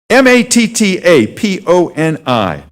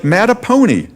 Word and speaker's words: Mattaponi: M-A-T-T-A-P-O-N-I. Looks like Mattapony. That's kind of a neat name. What is a Mattapony? Unfortunately, it's pronounced Mattaponi, and it's a Native American name.